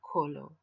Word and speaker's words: Kolo: body practice is called Colo which is phonetically similar to molo here you see Ghanaian